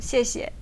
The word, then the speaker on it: 谢谢: in Chinese it begins with the X. Oh, X. But you can spell it like SH. It's kind of like she.